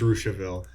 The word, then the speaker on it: Russiaville: Actually, Melody tells me that that's called Russiaville, It is pronounced Russiaville.